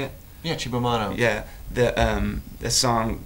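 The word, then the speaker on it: Cibo Matto: Yeah, Chibamato.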